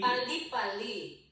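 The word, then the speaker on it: 빨리: Spell it. P. Pali.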